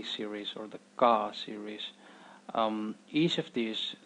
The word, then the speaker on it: ക: in the series is car car it's exactly the same as how uh it's pronounced in keep the C Sound in keep it's the C okay